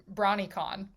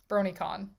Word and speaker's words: BronyCon: most recent uh uh brawnycon bronycon bronycon i love the idea of pronouncing it brawny like i wanted it to rhyme with con and i don't know